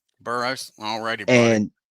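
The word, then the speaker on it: Burroughs: It's pronounced Burrows. Burrows.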